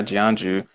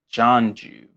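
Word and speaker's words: Jianzhu: was poisoned by by gianju oh actually i meant to say his name's actually pronounced john jew which i guess i should have known that and not jeonju john's you i feel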